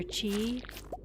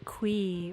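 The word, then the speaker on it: Qi: And I think, like, people go back and forth on, like, pronouncing it Mr. Key versus Mr. Chi. But I think in the interview, he pronounced it like Mr. Quee or something. He, like, added a third contender.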